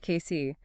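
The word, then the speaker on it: Cayce: They opened a dedicated workshop location on Frank Street in case K is pronounced Casey, right? That's right, Casey.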